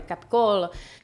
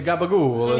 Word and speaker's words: capicola: Italian American slang / pronunciation is a little different than it is in Italy. So yeah, the capicola or the capicolo. It's The gabagool.